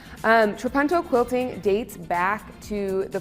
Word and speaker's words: Trapunto: I had to look up how to pronounce that just because reading it I was like, it's not an English word. It is Italian. Trapunto quilting dates back to